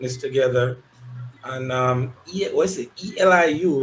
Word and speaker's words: Elihu: Eliu, right? Yeah, yeah, it's pronounced Elihu.